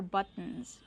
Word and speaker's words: buttons: These are buttons. That's right. Those are buttons. Remember the pronunciation. Use the stop t but and then go to the end.